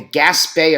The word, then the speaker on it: Gaspee: Affair G A PE gas Bay as as in French for all you Frenchies out there uh you know um that with that extra e you get the accent on there the gas Bay Affair